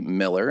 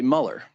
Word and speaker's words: Mueller: the U came first, the U is silent and E's were pronounced more like I's. Interesting. And that's how you get why some people say Miller and others say Mueller.